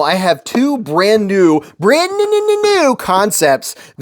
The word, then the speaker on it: Kansept: I have two brand new concepts. Yes, it's spelled Kansept, but it's pronounced Concept.